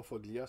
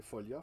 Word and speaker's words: Foglia: Mais tout le long du spectacle, Plume, sachant Folia, parce que c'est pas Foglia, c'est Folia, il faut prononcer, sachant Folia dans l'assistance, n'a pas cessé de l'haranguer, de le prendre à partie.